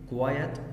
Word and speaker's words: quiet: means تعني اكيد تعني كلمه quiet، وخد بالك quiet الصفه QUIET وانطقها quiet.